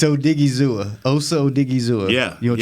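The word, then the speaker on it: Odighizuwa: It's Odigizua. Like, did he ever go to school? You know, I ain't finna have that. It's Odigizua.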